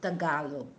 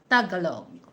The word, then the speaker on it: Tagalog: And then, you have to pronounce that Tagalog, not Tagalog, okay?